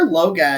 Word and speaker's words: Loagaeth: So the first one, Scott, what is Liber Loga, or Logath, or however it is pronounced? Liber Loga is actually it's pronounced Loga, like Logah, Loga.